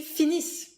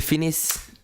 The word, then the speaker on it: finissent: And ils finissent. Ils finissent. You stop the pronunciation here at the double S, but you write the ENT, just like for the verb of the first group, that you never pronounce.